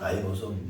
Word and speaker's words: 라이보솜: 전에는 리보솜이라고 했는데 지금은 라이보솜이라고 해요. 라이보솜.